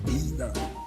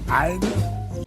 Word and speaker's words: either: You say either, I say either. How about another commonly mispronounced word?